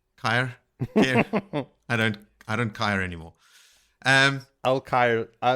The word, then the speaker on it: Caer: It's Caer, isn't it? You put a pin in yes, Caer.